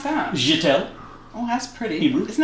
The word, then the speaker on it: Jetta: How do you pronounce that? Jetta.